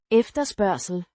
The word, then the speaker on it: efterspørgsel: efterspørgsel, Means demand, pronounced efterspørgsel, ef-ter-spør-sel.